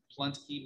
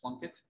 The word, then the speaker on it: Pluntke: Pluntke Mr. Plunkett, but his name is P-U-L-N-T-K-E. So it's not Plunkett, it's Pluntke. Is it?